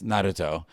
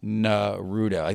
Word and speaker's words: Naruto: translations of it so in Japanese it's Naruto in English it's narudo they they stop same thing